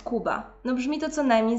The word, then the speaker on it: Kuba: Wyobraźmy sobie, że ktoś mówi na mnie Natalia zamiast Natalia, albo ktoś mówi Kuba zamiast Kuba.